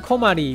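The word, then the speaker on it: 小鞠: 而关于小菊姓氏的部分，小菊的日文发音 komari 与困扰 komaru 的发音相似，并且因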